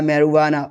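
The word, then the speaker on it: marijuana: जे कब साइलेंट होता है? जी कुछ फॉरेन स्पेनिश ओरिजिन वर्ड्स में साइलेंट होता है। ठीक है? जैसे एलोपिनो और एक होता है मेरुआना। उसमें भी साइलेंट होता है।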